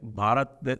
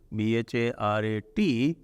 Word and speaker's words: Bharat: this problem of pronunciation, the schwa deletion that happens in Hindi. Yes. Like Bharat, they'll swallow the A. So Bharat becomes, if Sanskrit, if you translate the Bharat the way it is written, Bharat, so in Sanskrit you